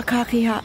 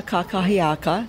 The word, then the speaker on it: kakahiaka: Aloha kakiha. Gotta pronounce it correctly. Aloha kakahiaka, that's good morning in Hawaiian.